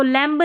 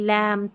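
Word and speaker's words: lamb: ना साथ में है तो एमबी में बी साइलेंट है इन सभी में। ऑलरेडी मैंने बता दिया आपको। ठीक है? इसको लैंब नहीं लैंप थंब नहीं थंब क्लाइंब नहीं क्लाइम।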